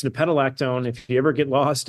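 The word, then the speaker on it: nepetalactone: Unfortunately, I made the worst possible name for my Substack because no one can pronounce it. But it's nipetolactone.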